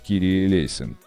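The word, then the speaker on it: Κύριε ἐλέησον: Молитва Господи, помилуй, на греческом языке произносится как «Кирие Лейсон».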